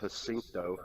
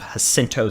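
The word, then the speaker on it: Jacinto: hope so at least I believe it's pronounced hinto hinto okay that's what I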